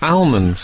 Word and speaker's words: almonds: know you call them almonds I struggle to do that silent L that people do you